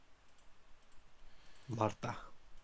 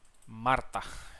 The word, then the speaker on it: Marta: Alex versus Marta. Marta. Yes, that's a very good Spanish pronunciation. Marta. Marta. Well, don't exaggerate on the R, but it's good. Marta. Marta. Marta. More like an L.